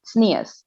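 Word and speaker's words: tznius: like modesty in hebrew but hebrew with the accent of people who are from eastern europe it's pronounced sneeze and you're never going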